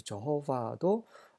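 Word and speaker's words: יהוה: 하지만 많은 학자들이 이것이 정확한 발음이라고 하는 것은 야훼라고 합니다. 예호와. 근데 제가 생각하기에는 예호와 이 발음이 아닐까 생각을 하고 있습니다. Yud, Hey, Vav, Hey 이것을 연결하면 예호와라고 발음이 되리라.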